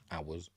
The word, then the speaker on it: hours: hours couple of hours hours why don't you pronounce the h in hours by the way it's